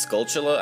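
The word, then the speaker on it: Skulltula: the skola house or I guess it's pronounced scula as like tarantula skula anyway uh we can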